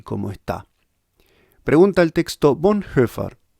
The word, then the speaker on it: Bonhoeffer: está pregunta el texto Von heard así se pronuncia bondford ojo una guía confiable